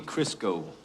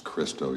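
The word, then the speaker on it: Cristo: famous author's name wrong count Monte krisco that's kristo you dumb by Alexandri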